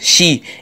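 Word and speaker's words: 四: porte malheur tout simplement ce chiffre se prononcent chi et cette prononciation serait similaire au mot mort et d'ailleurs si vous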